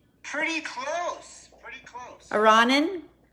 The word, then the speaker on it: Aronin: you name it arronen did i pronounce it correctly pretty close pretty close iranin some people say ronin like macaroni beeforonin what do you